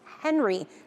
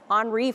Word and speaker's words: Henri: on that crisis front since Henry, remember Henri? Sorry, I mispronounced it. Henri first formed.